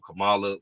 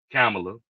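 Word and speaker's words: Kamala: that uh you know Cala for one camela I think is the right pronunciation of her name camela I gotta remember that because I be saying Cala camela um is a female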